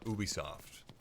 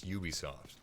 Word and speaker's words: Ubisoft: an turns out it's pole in France where they're based they call it booby soft and in America its Ubisoft or whatever you want to pronounce it global low-key you got